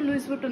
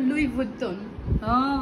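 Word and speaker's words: Louis Vuitton: কিভাবে করা যায় না আগে এই যে লুইস ভুটন আমি ধরতাম লুইস ভুটন বাট এটা লুইস ভুটন না এটা হলো লুই ভুট্টন ওদের উচ্চারণ আমাদের উচ্চারণের মধ্যে পার্থক্য আছে তো যাই হোক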